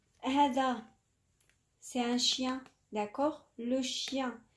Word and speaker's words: chien: Hada, c'est un chien, d'accord? Le chien, ça s'écrit avec N et on ne le prononce pas, on dit le chien.